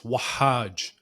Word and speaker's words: Wahaj: It's Wahaj. So that's how you pronounce it, Wahaj. Wahaj. And there's like an emphasis on the ha, Wahaj.